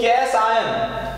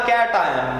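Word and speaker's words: cation: तो जो कैसायनिक कॉम्प्लेक्स है वो कैस आयन क्यों बोला है, या कैट आयन, प्रोनाउंसिएशन अलग अलग होता है गाइस, आप इस पे मत जाइएगा, ठीक है।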